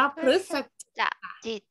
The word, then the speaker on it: พฤศจิก: นี่ สอน สร้าง จิต ถูก ต้อง อ่าน ว่า พฤศ จิ ต รู้ สึก จิก แปล